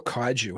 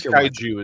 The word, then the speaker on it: kaiju: yes the cage you is it cage you or Kaiju how do you pronounce you Kaiju the monster and again I'm a Texan I've never pronounced anything correctly in my life but I think Kaiju is the more anglicized version anyway so who doesn't